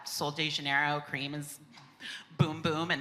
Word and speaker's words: Bum Bum: was oh, boom boom, boom boom cream, and I was yes. Yes. Because I was everyone calls it bum bum, and I'm my 4-year-old knows it's boom boom, and also knows how to pronounce Givenchy.